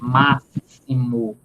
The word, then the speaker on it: máximo: O X, o fonema de X, não é aí X, porque a pronúncia da palavra é máximo. Máximo. Então, aí, o fonema aí não é X, é S.